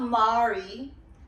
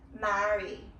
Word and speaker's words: Mari: Not Mari. Mari. That's how you say my name.